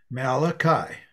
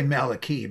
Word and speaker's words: Malachi: to pronounce thank you malachi some say malaki but not in our part of the world and the name means